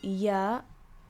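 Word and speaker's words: ياء: is a vowel and you have ya which you pronounce as ee which is another vowel arabic only has three vowels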